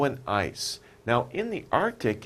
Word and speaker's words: Arctic: right we say Arctic Arctic we don't really pronounce the C it's not Arctic it's Arctic Arctic okay Arctic that's the area around